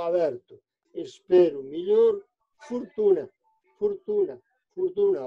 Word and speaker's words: fortuna: Espero melhor, fortuna, fortuna, fortuna. O tónico fecha o anterior, que escrito é o, pero pronunciado o.